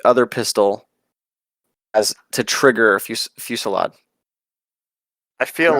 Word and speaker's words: Fusillade: Fusillade? Fusillade?